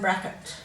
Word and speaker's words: bracket: making a schwa sound so we don't say strict n we don't seem to pronounce it correctly or bracket we give it a schwa sound so we say stricken and bracket so we cut the sound short so let's highlight that e